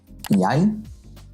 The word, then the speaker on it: jeg: All three are pronounced as I. 17. Mai, the National Day of Norway. Hei, jeg, as well as Rein.